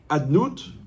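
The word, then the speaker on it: אדני: Il se prononce Adnout, mais il s'écrit Yud Kevavke. L'écriture, elle est muette. Par contre, la parole, elle est bruyante. La parole, elle fait partie du monde de la matière. Donc, on doit prononcer Adnout.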